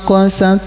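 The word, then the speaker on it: قست: tumma qasat qulubukum mim ba'di dzalika fiyak kal hijarah bersamaum mim ba'dialika fayyabal hijarah Hati-hati maknya. Tumma qosat maknya tidak panjang.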